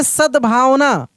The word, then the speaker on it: सद्भावना: सद्भावना सद्भावना देखिए सद्भावना सद यानी द का उच्चारण तेजी से कर रहे हैं। यानी आधा द है। देखिए सद सद भा व न ऐसे सद्भावना जिस अक्षर का उच्चारण तेजी से होता है वह आधा होता है।